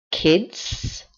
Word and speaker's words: kids: pronunciación un poquito más Kids Kids muy importante pronunciar la s al final es uno de los